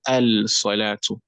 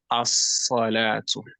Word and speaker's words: الصلاة: But to pronounce salat, when alif and lam comes up before it, you won't say al-salatu. You won't say al-salatu. What would you say? Who knows? الصلاة. As-salatu. As-salatu.